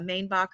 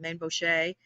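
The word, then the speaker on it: Mainbocher: uniforms, they had one that was made by Mainbacher or Mainboucher, the various pronunciations.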